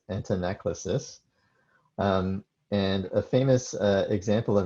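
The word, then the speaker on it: antanaclasis: To introduce a related term, which is hard to pronounce, I think you're supposed to say this antinaclasis.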